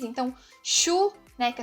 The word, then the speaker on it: Schuh: Ele vai ter esse som de X, então Schuh, né, que é sapato, Schuh, Deutschland, né?